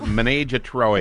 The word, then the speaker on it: Ménage à Trois: In Papillon, it's pronounced Ménage à Trois.